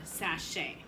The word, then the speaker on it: sachet: you look in parentheses it tells you how to pronounce it but it also gives you the accent marks it says SAP with a lowercase a sound and then it has Shea with the line over the a making a long a